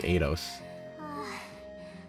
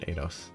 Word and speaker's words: Eidos: I really hate this as an I, but they pronounce it Eidos. There's a second I, but they pronounce it Eidos.